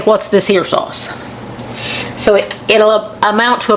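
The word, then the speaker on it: Worcestershire: going to add a good little bit of what's this here sauce what you sh I say it right but a lot of people say people may say I say it wrong so I say what's this ha sauce so it'll amount to about a tablespoon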